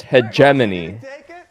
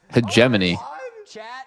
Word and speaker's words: hegemony: I mean that's how a lot of the like uneducated would pronounce it. Oh it's hegemony. Hegemany.